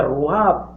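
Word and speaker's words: רוח: vas a encontrar con una palabra que se amarró a esta palabra que se pronuncia roja y que es hebrea esta su significado es espíritu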